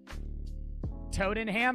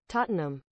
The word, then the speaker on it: Tottenham: mine or just drill in holes straight down Toad and ham I don't know how to say it I